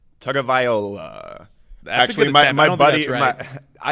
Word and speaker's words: Tagovailoa: But it's Tagovailoa. Tagovailoa. There's no N.